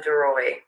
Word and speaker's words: Daroy: your name is how do you say your last name deroy deroy okay uh and you